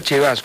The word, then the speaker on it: Cevasco: Se escribe Sebasco y se pronuncia Chevasco.